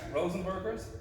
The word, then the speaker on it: Rozenbergs: Satori chats here with Rozenbergs. Hello. That's how you pronounce it properly.